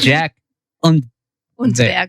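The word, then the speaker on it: Jack Unterweger: I'm going to let Genevieve pronounce this name because I don't want to butcher it. Oh, Untberger. Jack Untberger.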